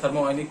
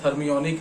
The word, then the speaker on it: thermionic: हम इसे थर्मोनिक कहते हैं इस शॉर्ट फॉर्म में, बट एक्चुअली प्रोनाउंसिएशन थर्मियोनिक है।